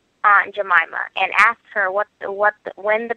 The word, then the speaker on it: Aunt Jemima: I can be mistaken, but I think the correct pronunciation is Aunt Jemima.